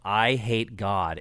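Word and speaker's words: Eyehategod: And then there's also a band called I Hate God, and that's spelled E-Y-E, Hate God, all one word.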